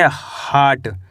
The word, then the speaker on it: heart: क्या पढ़ेंगे each, HEART इसे पढ़ेंगे हार्ट, क्या पढ़ेंगे हार्ट, हियट नहीं पढ़ना हार्ट, WITH इसे पढ़ेंगे विथ,